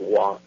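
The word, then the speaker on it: waw: It does, like the W in Hebrew is Wa, which is the letter is pronounced Wa, and it's the sixth letter of the Hebrew alphabet.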